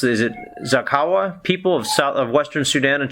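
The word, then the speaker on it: Zaghawa: Is it Zakawa, people of Western Sudan and Chad? From Darfur, northern Darfur in Sudan. So the northern Darfur region predominantly inhabited by the Zakawa tribe and also the Ford tribe in some part of it.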